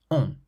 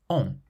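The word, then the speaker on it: ont: So the first one has a nasal sound, cousin, meaning cousin, and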